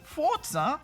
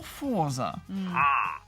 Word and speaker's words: Forza: pronounce Forza is it Forza or Forza well it's the Italian word for force and Italians usually pronounce the letter Zed similar to a TS sound in English uh for example Pizza